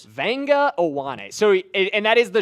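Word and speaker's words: Vega Ioane: Jackson Durham, give me the pronunciation of this name because I always struggle with it. Okay, so this is Vanga Awan.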